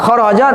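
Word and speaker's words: خرج: ee khurujun enggak paham jadi tanda fil madi itu mabniun alal fathi dibacanya tetap fathah kita mendapatkan satu satu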